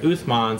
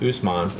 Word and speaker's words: Uthman: about him all right uthman sometimes pronounced usman uh he was a